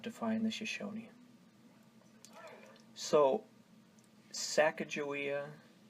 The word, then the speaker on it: Sacagawea: Tsakaka-wei translates directly to Shoshone as bird woman, and of course she was a Shoshone Indian. Sakakawea is the official spelling of the 3 tribes of the Mandan, Hidatsa, and Arikara.